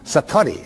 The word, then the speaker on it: Satori: Japanese but it's called Satori I'd love to say that Satori SAT Ori and it means instant